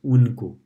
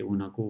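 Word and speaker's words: उनको: So uni becomes unko. And it's not unako, we don't usually say unako, we say unko, unko, as if no is half in this case.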